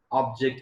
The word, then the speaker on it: object: class changes for example the spelling remains same when i pronounce object as verb i have to pronounce this word as object object and when the same spelling i pronounced it as a noun at a time i have to say this as object object remember when i say verb object and when i say noun object so this is convergent